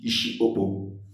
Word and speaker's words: Isiokpo: The proper pronunciation of Isiokpo used to be Isiokpo, the head of Obo.